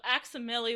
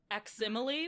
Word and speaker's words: Aximili: So Aximili would be one way to pronounce that. Aximili would also be a way to pronounce that, like facsimile.